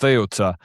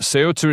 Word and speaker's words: Ceuta: In Spanish, it's pronounced well, in European Spanish it's pronounced Theota. It's a th at the end there at the front there, but Ceuta is how it's been portrayed in the media.